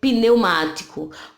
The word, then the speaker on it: pneumático: Primeiro, o P, né, mudo, ele fica na sílaba mais próxima, que é neu.